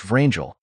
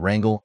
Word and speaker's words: Vrangel: have also adhered to transliterate a number of names as the Russians actually pronounce them, i.e., Iosif Vissarionovich Stalin and Pyotr Nikolaevich Vrangel, instead of the traditional Joseph Stalin and Wrangel and Budyanii.